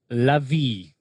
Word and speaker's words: Lavi: Except for it's not Lavi. What is it? Eliav? How do you say your last name? Lavi.